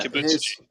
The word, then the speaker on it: Kibutsuji: Ibutsuchi? Yeah, Kibutsuji.